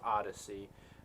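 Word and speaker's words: Odysee: been looking at uh odyssey it's not spelled correctly it's it's spelled really weird but it's still pronounced odyssey um that's where uh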